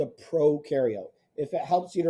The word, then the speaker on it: prokaryote: membrane that's called a prokaryote if it helps you to remember pro rhymes with no because prokaryotes have no